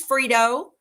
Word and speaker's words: Frito: This is Frito, spelled with a T. I say it with a D.